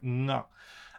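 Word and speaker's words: が: Sorry, it's written like ga, I should say, but it's pronounced like nga.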